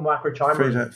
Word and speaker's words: microchimerism: was fascinated by and I may not get the pronunciation of this correct either, microchimerism. Yes, so fetal microchimerism. Fetal microchimerisms. Okay, is that correct? That's the way you say chimerism.